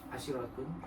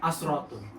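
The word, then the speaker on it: عشرة: asyiratun, Bacanya jangan asyiratun, asratun, asratun, asratun, 9, tis'atun, 7, sab'atun, 6.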